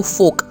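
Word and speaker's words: folk: फोक यानी लोग, वहाँ पे प्रोनाउंसिएशन में एल साइलेंट है, सो आपको फोक ऐसा बोलना है।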